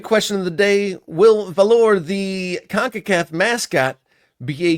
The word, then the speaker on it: Volar: It's Volar, not Valor. Volar.